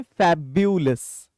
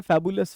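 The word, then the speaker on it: fabulous: इसको हम पढ़ेंगे फैब्यूलस। आप इसको चाहे फैबुलस फैबुलस जो बोल चाहे बोल सकते हैं, बट जो करेक्ट प्रोनाउंसिएशन है वो है फैब्यूलस।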